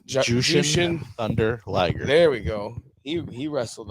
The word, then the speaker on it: Jushin Thunder Liger: I just said the name wrong. I know. Jushin Thunder Liger. You did it again, but okay. Jushin Thunder Tiger.